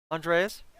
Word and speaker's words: Andreas: Andreas.